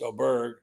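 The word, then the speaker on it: Åberg: And the guy, one of the guys I picked, Oberg, pronounced Oberg, uh, the kid from Texas Tech and who was such a young player.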